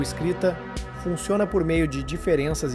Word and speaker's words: différance: Notem que eu pronuncio da mesma forma que diferença, mas ele a escreve com a letra A em vez da letra Eia. No francês, a diferença é inaudível, só se percebe ao escrever.